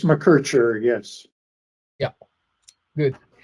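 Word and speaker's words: McKercher: So welcome Professor Bob Machki. Thank you. What is the right pronunciation? Bob McCarter. No, it's Mercher.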